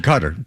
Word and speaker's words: Qatar: Qatar, however you pronounce it. Well, you pronounce it Qatar.